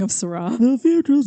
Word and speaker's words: Shiraz: Now, Syrah in this case is spelled S-H-I-R-A-Z, which one might think is pronounced Shiraz, but it's not, and only stupid people pronounce it that way. I've always thought it was that. I was just going to say, hi, stupid person. It's Syrah. It's Syrah? It doesn't matter how it's spelled. S-H-I-R-A-Z, S-H-I-R-A-H, anything. It's always just Syrah.